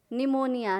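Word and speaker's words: pneumonia: यहां भी देख लीजिए प्लीज साइलेंट है निमोनिया लेकर आप अगस्त पर इंटरनेट जाए या स्पेलिंग लिखे तो क्या होगा P N-you M ओ एन निमोनिया सेक्रेट्रीज सेक्रेट्रीज का क्या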